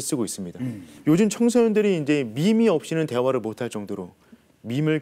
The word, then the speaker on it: MEME: 혹시 어떻게 읽는지 혹시 아시겠습니까? 미미. 네. 저도 처음에 매매. 맞습니다. 저도 처음에 매매 미미라고 읽는 줄 알았는데 네네. 보니까 밈이라는 단어. 밈. 요즘에 많이 쓰고 있는 밈이라는 단어가 MEME입니다.